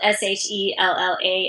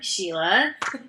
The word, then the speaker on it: Shella: uh my spelling of my name is unique um it's spelled s h e l l a everyone thinks it's shella but I'm Sheila um I was born